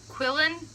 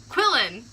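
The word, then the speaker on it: Quirrell: that's what thank you quillon you know query Quillin no Larry sin rhymes with Squirrel Girl she kinda I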